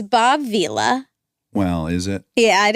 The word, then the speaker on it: Vila: Yeah, so it's Bob Vila. Well, is it? Yeah, it is. I looked it up, and it's spelled with one L. Oh, then I accept it. I thought it was Villa.